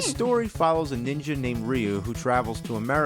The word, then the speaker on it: Ryu: We didn't know Ryu was actually Ryu. Blanca, some people Wait, people say Ryu? Really?